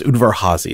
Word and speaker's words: Udvar-Hazy: Oh, is it pronounced Hazy? Yes, Udvar-Hazy is Udvar-Hazy.